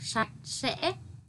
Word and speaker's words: sạch sẽ: Từ cuối cùng trong đoạn 1 là từ sạch sẽ. Khi đọc cần đọc cong lưỡi âm sờ trong tiếng sạch và tiếng sẽ. Chú ý đọc đúng vần ách trong tiếng sạch, thanh ngã trong tiếng sẽ.